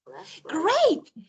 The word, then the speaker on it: grape: Look, when I have actually this E at the end of words, actually, it can change the pronunciation of the words in some ways.